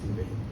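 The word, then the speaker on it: Cowper: Like this guy William Cooper, it spells C-O-W-P-E-R, but pronounced Cooper.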